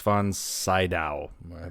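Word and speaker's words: von Sydow: my dreams Dreamscape with Dennis Quaid and Max von saow that's how you say it never watched that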